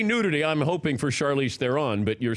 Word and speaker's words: Charlize Theron: out on Friday right Charlize Theron mm-hmm I thought it was Charlize Theron you know I thought it was thrown I've been saying everybody's name wrong the whole press tour is Charlize Theron it's June Rafe al